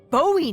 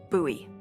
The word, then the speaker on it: Bowie: no warning he pulls out this huge Rusty Bowie knife it's actually pronounced buoy what no it's like the last name like